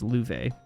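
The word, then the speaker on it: Loewe: foreign sister and Louvre yes that is pronounced Louvre oh okay I what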